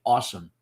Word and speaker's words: Ah Sahm: But the way Bruce Lee's accent works, the character's name sounds like he's saying awesome.